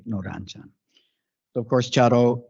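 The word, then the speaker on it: 茶道: So of course, Chado is the Urasenke way of pronouncing the word Sado, which is most commonly used in Japanese, but we prefer to pronounce it Chado.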